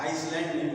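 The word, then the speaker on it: island: बाद अब देखते हैं यस का उच्चारण नहीं होता सस य साइट होता है यस जो साइ होता है अभी आपने देखा सा आइल तो य पर उरण नहीं होता आइल बोला जाता आइसलैंड बोला जाता और इसको ही बता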